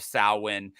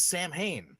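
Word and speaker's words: Samhain: become by the way we finally get the correct pronunciation yeah as as much as I love Donald Pleasence like he is legit one of my favorite actors um he says Sam Hayne yep and um Salin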